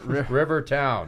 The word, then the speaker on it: Riverton: Rivertown. Rivertown. They misspelled it Riverton. Some people say it that way, but we know it's Rivertown.